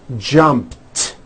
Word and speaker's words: jumped: end jump of course the word is spelled with an ed ending it's just pronounced as a t jumped like that the word